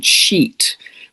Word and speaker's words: Scheat: It's also at 29 degrees of Pisces conjunct a fixed star called Scheat, which is spelt Scheat.